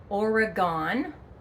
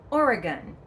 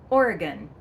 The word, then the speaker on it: Oregon: It is not Oregon or Oregon. The correct pronunciation is Oregon. Say it quickly, Oregon. And yes, it's gun at the end, not gone.